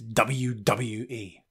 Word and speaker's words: WWE: pronounces the letters WWE it's not Debbie Jody it's WWE listen to him WWE